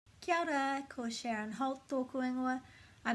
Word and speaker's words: Kia ora: Lots of people say Kia ora, but there's no silent letters in te reo. The A has to be pronounced. So that's either Kia Ora, or as most Māori people will say, they put this A and this O together, Kia ora, Kia ora, ao, like the beginning of Aotearoa, Kia ora, with